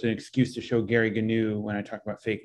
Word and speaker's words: Gnu: here is actually and they pronounced it with a hard g gary gnu is an old character from a tv show um and and um yeah so it's an excuse to show gary gnu when i talk about